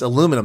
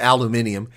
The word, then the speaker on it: aluminum: oh my goodness oh my goodness it's aluminum that's right not aluminium aluminium that sounds like some dude lives next